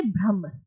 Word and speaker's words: ब्रह्म: ब्राह्मण है ठीक है ब्रह्म इसको हम बोलेंगे ठीक है इंग्लिश में लिखने में भ्रमण आएगा but when we pronounce it it's like that is टू से ब्रम अब जो ब्रम है